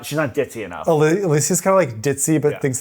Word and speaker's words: Alicia: What's the right way? Alicia. Alicia. Not Alicia. It's Alicia. Do I really say Alicia?